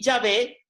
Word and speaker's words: Yahvé: Las dos pronunciaciones más comunes son Jehová, una pronunciación latina utilizada desde el siglo XVI, y Yahvé, un intento de pronunciar la palabra según una interpretación hebrea más literal.